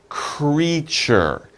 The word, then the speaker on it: creature: It's creature. This is a little bit of a difficult word. Let's practice the pronunciation. Creature, creature. It's two syllables, two sounds.